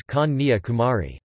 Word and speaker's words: Kanyakumari: In Tamil it is pronounced as Kanyakumari.